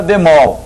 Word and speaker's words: bemol: Qual é a sílaba mais forte? É o B ou o mol, né? O. Então, é uma oxítona.